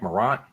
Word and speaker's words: Morant: How do you say his last name? Is it Morant? Morant. All right, you know, he ain't trying to act like he's Creole or nothing.